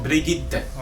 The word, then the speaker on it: Brigitte: Alors la prononciation c'est Brigitte.